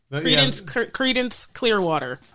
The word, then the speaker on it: Creedence Clearwater: Billie Holiday, Janis Joplin, Jimi Hendrix, Clarence, how do you say it? Clarence Clearwater. Creedence Clearwater. Revival. Thank you.